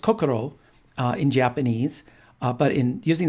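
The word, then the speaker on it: 心: becomes from their heart and then jean is pronounced kokoro in japanese but in using the chinese pronunciation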